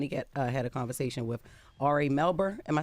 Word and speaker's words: Ari Melber: he sat down he had a conversation with Ari melbour am I saying it right Ari melber yeah Ari melber uh during Miami art week